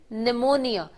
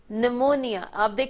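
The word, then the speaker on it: pneumonia: जाता बीमारी होती है निमोनिया निमोनिया से पीडि़त व्यक्ति के लिए तो इसमें पी साइलेंट हैप्पी की आवाज नहीं आती तो क्या यह अब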